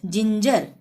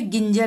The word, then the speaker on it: ginger: GINGER, जिंजर। जिंजर में भी जी के बाद क्या आ रहा है? आई। ठीक है ना, ये आई आ रहा है ना यहाँ पे भी जी के बाद, तो ज का उच्चारण होगा, यानी जिंजर। यहाँ पे गिंजर नहीं बोलेंगे। ठीक है, यहाँ पे ज ही आएगा, जिंजर।